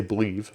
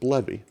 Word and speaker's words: bleve: source project called bleve I used to say believe but it's actually pronounced levee so if we go